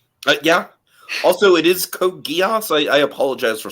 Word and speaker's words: Geass: I think it's actually Jacob told me it's pronounced Geass.